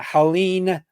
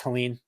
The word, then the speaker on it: Helene: We are helping out all the people devastated by Hurricane Helene. I'm saying that right? It's not Helen, it's Helene. I believe it's Helene.